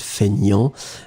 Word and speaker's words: feignant: So, fainéant, but then we pronounce it feignant. And feminine form would be feignante. Remember, so masculine you don't pronounce the T, and then feminine form you will pronounce it.